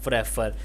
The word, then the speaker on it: prefer: But remember, the stress is on the second syllabus of prefer. So it's prefer.